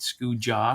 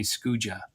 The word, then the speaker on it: Skoojah: Um, I got bought my URL and I just went scoo jaw because that's my my nickname plus my reggae and rasta kind of, you know, love. Yeah. Uh, that's combined. And then the way people used to pronounce my name and how it's spelled, they would say Scooa. Yeah. That's how most people would say it and pronounce it.